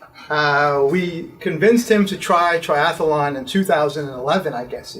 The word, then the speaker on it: triathlon: So, and triathlon just has 3 syllables.